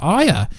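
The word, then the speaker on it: Ayer: snyder in association with david iyer or air as you americans say now this is very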